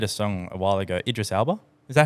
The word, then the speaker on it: Idris Elba: Idris Elba. Is that how you pronounce his Yeah, name?